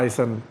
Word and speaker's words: Eisen: Amerta dari Jakarta sama band lokal Eisen. Ya. Bacanya Eisen atau Eisen? Atau Eisen. Eisen. Eisen Sama aja, kayaknya. Mas. Seperti Eisenhower gitu kali ya.